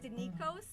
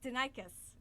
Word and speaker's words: Denikos: had to find something we thought it was danikos until we were told it was denicus that's correct it is it's actually denicus but